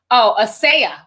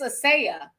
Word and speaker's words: Asia: Asia Muhammad says, hey, sis, again, my name is pronounced, Asaya. Not like the content. Oh, but it's spelled like Asia, but it's Asaya.